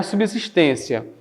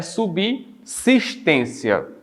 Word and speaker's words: subsistência: Não é subsistência, é subsistência, nesse caso aqui.